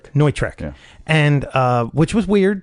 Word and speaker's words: Neutrik: How's it pronounced? Neutrik.